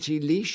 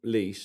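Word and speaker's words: Laois: Lozenra lo Z from L A O I S. It's Ireland. You you you Oh, County Leash. Is it called leash? Is that leash?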